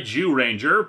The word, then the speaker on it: Zyuranger: And thus we have this particular string of episodes for Kyoryu Sentai Zyuranger. Hey, don't look at me like that, it's how it's pronounced.